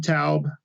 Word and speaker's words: TAUB: TAUB. It's more of an owl. So it's TAUB. TAUB, yep. Like an owl? Yes. Like a wise old owl.